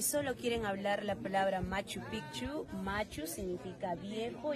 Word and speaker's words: Machu Picchu: como y amigos ya tienen que pronunciar también doble c Picchu Machu Picchu si solo van a hablar la palabra pichu es la parte genital del hombre ent si dice Machu pichu estarían diciendo pene viejo está mal dicho ya